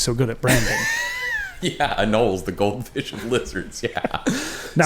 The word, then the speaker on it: anole: Which How do are you spell it? small Anole.